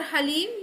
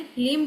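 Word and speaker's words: ह्लीं: और हलीम ये बोलते हैं, लेकिन ये गलत प्रोनाउंसिएशन है, हलीम बोला जाता है।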